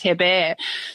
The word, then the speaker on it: Herbert: to her bear because Herbert in French is pronounced her bear so you know who